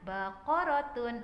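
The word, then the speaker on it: بقرة: Oke, huruf ba, huruf qaf, huruf ro, huruf ta marbutoh. Dibacanya baqaratun atau sapi.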